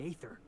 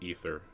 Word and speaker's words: aether: 5 years go by, they send you a message out of the aether. What's going through your head? What's going through my head is that's not how you pronounce ether, Felix.